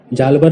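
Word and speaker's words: Hjalmar: हजालमर लिंग 1820 to 1866। इनके नाम में एच साइलेंट है, इसलिए कुछ लोग इन्हें जालबर नाम से भी जानते हैं।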